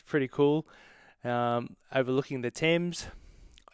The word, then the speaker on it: Thames: cool um overlooking the thames it took me so long to understand thames because it's about t-h-a-m-e-s it makes no sense at all but that's that's how they pronounce it um yeah so and